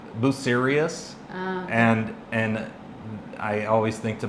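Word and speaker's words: Bucerías: They're like Buserias, and I always think to myself, are you serious right now?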